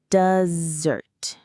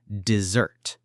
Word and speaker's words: dessert: The sweet food has the stress on the second syllable. Dessert.